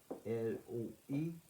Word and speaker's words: loi: On aurait la même prononciation dans loi. L-O-I, la loi.